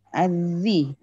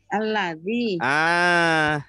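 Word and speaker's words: الذي: Ma'ut tohur adalah, terus bacanya apa ini? Nah ini tadi ini. Azzi. Apa? Azzi. Ini loh. Isim mausul ini. Alladzi.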